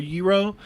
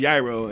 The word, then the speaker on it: gyro: like what i'm doing i order a hero but it's pronounced gyaro and then they go